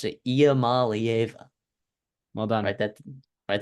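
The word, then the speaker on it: Iamaleava: you saw Nico Mala yes that's how you pronounce it IAM Mala well done write that write that down and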